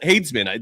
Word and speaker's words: Hadesman: Let's bring the the man of the hour on the program, Hayesman. Did I pronounce that correctly?